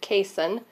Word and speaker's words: casein: And with the dairy, it's the protein, which I believe is pronounced casein.